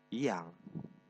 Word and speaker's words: jang: Nah, kata jang ini dibaca yang. J yang seharusnya dibaca dengan benar J, tapi dibaca dengan Y.